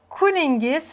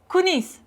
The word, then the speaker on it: kuningiz: Next phrase, kuningiz xayrli bo'lsin. Kuningiz xayrli bo'lsin. And you can read it shorter. Kunis. Kunis. This is how they say it in Tashkent.